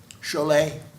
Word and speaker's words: Chalet: But well, the Germans would pronounce the T for sure.